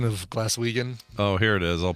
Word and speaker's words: Glaswegian: Glaswegian would be a hard G.